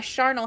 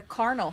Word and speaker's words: charnel: Everyone's like, so like a charnel house. Yes, I always read it as a carnal house, like a hard C.